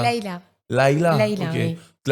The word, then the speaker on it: Laïla: C'est parce que c'est L-A-I tréma.